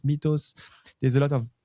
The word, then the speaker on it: Mythos: know how to say Mythos, Mythos. There's a lot of pronunciation, even in the meeting last time with client in IBM. I think it's Mythos if you've got the English enunciation.